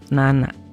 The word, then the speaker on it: 七: Jadi kalau tujuh apa? Yang pertama si, yang kedua nana.